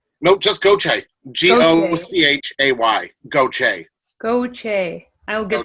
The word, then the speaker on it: Gauthier: say your last name go check goto think of it as g-o-c-h-a-y go che yeah i would not have